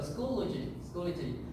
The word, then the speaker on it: Schoology: We can say school, lo, and g. So Schoology. So the Schoology is a